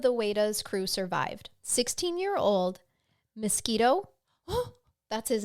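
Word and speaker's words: Miskito: wa's crew survived 16-year-old mosquito oh that's that's his name I'm not mispronouncing it oh I love it it's mosquito it's m i s k i t o it's mosquito mosquito that's so funny his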